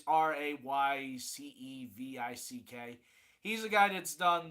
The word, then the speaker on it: Raycevick: Ray Silvic? I don't know how to say it correctly. It's Raycevick.